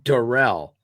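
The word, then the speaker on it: Darrell: again D Daryl Taylor no he said pronounce my name derell so I got one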